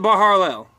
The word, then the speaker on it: Baharlel: Horseface, Barharlel. You go Baharlel. You put as many R's in there as you want. You go Baharlel, Barharlel. I usually just pronounce it Baharlel.